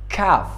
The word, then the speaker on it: calf: For example, calf پیش از F قرار گرفته تلفظ نمیشه.